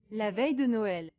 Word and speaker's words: la veille de Noël: French Christmas Eve is pronounced as La veille de Noël. La veille de Noël.